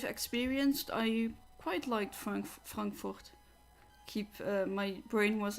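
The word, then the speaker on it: Frankfurt: say it the way do I pronounce it the way Americans do it but usually I'm conditioned to say it in the German Way so I'll stay with stick with frankurt come on Latios so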